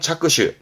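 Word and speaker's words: 着手: 한자가 이겁니다 발음은 후착 그 후지 착 착수합니다 발음은 차슈 차슈 업무의 착수 한다 일을 시작하는 부분이 되겠죠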